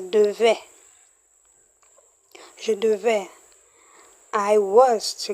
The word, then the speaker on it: devait: So, note the different pronunciation. In future simple, that's future tense, you say devrait with an R. Excuse, devrait with an R. Why imparfait doesn't have an R? Letter R is devait.